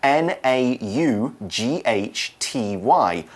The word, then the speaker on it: naughty: being naughty oh now naughty is a really fun word it doesn't quite sound like it's spelled so I'll spell it it's n a u g HT y naughty and it is a